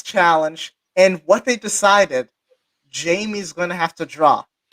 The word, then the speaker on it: Jamie: So once Jamie comes back, and full disclosure, I pronounced her name as Jaime for like the longest time until I spoke to her.